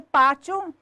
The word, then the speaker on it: pátio: No caso da palavra pátio, sílaba tônica de pátio, pá, penúltima, paroxítona acentuada por terminar em ditongo crescente IO.